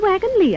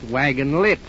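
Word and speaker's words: Wagons-Lits: This is the wagon Lee office. Why? It's spelled wagon lits. I know it's spelled litz, but over here they pronounce it lee.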